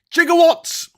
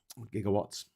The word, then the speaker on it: gigawatt: Jigawatt. Gigawatt. Why did he pronounce it Jigger? I suppose it was Jigger, wasn't it, back in the day? Uh, but then they changed it to Giga or pronounce it maybe. Maybe maybe just the actor in 21.5. Was it 21.4 gigawatts of electricity? Whatever it was, jigawatt. Yeah, we say giga.